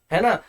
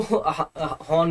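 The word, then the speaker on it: Han: Miracle on हॉर्न river, है ना। तो हॉर्न नहीं, सॉरी, हान रिवर, है ना, हॉर्न बोलता हूँ, थोड़ी सी प्रोनाउंसिएशन मेरी वीक है, इन सब माफ कीजिएगा, ठीक है।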